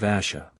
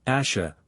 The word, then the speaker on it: Ash: of the kin of Asha we return to the hill Ash not Asha but Ash Ross though sure of